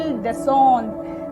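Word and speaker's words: descendent: Similarly as ER ending verb ENT आ जाएगा, लेकिन ENT यहाँ पर अपना यहाँ पर भी साइलेंट होगा और हम इसे पढ़ेंगे इल देसोंद।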